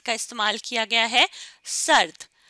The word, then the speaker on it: سرد: سرد رے کے اوپر جزم کی علامت ہے, تو اس لیے رے کی آواز بہت ہلکی سی ہمیں سنائی دے گی, ہلکی سی آواز آئے گی. اور پھر اگلے حرف کی آواز ہے سرد.